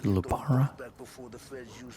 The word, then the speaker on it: lupara: When Frank sees a Lapara, he'll know. The old ways work. That's why you pronounce it Lupara.